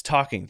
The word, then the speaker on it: talking: And remember, talking is spelled with an L. Yes, talking.